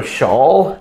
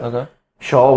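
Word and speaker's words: Chaelle: AE ll e so shall the safeguard is how I pronounce it a shawl with a th has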